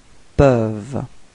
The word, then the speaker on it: peuvent: ils peuvent, repeat, ils peuvent, okay, so as usual you've got this ENT at the end, but then you don't pronounce it, you only pronounce ils peuvent, okay, and well, last but not least, elle.